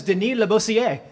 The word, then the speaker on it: Denis Labossiere: I have been told that the pronunciation is very French, so this is Denis Labossiere.